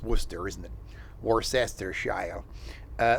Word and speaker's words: Worcester: Frammingham, uh Ashland, South Burrow, Westboro, uh Grafton, Warcester, because that's probably how you pronounce it. It's Worcester, isn't it?